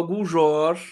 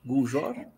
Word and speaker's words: Guljor: Vamos receber agora a Ana Paula Guljor. É assim que se pronuncia seu sobrenome, está correto? Guljor? Exatamente, É.